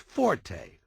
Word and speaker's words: forte: o r t used in music notation is pronounced Forte and it instructs the musician ition to play